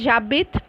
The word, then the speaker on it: j'habite: So here habiter, you are not going to put the j and habit, because h is silent followed by a vowel, so it has to be j apostrophe. Clear? So it is j'habite.